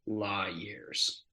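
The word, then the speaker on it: Lawyears: um l-a-w-y-e-a-r-s um it's kind of like a law and order but it's La years okay and um the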